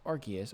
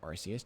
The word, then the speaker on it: Arceus: It's a smaller step than many may have hoped for, especially considering what Pokemon Legends Arceus, or Arceus, depending on your pronunciation, did.